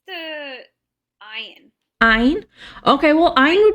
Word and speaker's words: ayin: Okay, so ayin is they used to pronounce it from their throat. So it'll be a g sound from the throat.